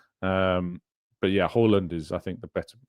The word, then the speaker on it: Haaland: Per Jensen says Haaland is pronounced Haaland. So it is Haaland. Is how you pronounce it according to Per Jensen.